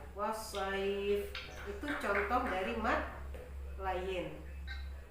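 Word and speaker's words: الصيف: Atau wasaif ya, tulisannya saifin. Maka kalau kita berhenti harus dibaca wasaif.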